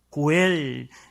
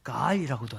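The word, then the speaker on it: גואל: 고엘, 이게 이 히브리어는 이제 문법이 이렇게도 발음하고 이렇게도 발음해요. 그래서 고엘이라고도 하고 가알이라고도 하는데요, 이 가알이라는 사람이 바로 보복자라는 단어예요.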